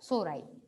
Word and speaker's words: sori: सोराई। सोराई की स्पेलिंग यही होती है, SORI।